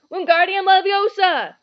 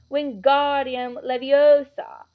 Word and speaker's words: Wingardium Leviosa: having much more look Wingardium Leviosa he shouted waving his long arms like a windmill you're saying it wrong Harry hurt Hermione sap its Wingardium Leviosa make the GAR nice and long you do it then